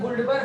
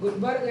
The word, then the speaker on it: Guldberg: इनकी स्पेलिंग में डी भी लगा लो, साइलेंट वाला डी। हाँ, जैसे हमारे यहाँ की इंग्लिश में गुल्डबर होंगे, तो लेकिन ये हम लोग की इंग्लिश के नहीं है, विदेश वाले, इनके में डी साइलेंट है।